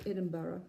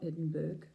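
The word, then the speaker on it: Edinburgh: linen and American guys it's Edinburough it's not Edinburg it's Edinburough just just saying that's how they pronounce it over there um so that's that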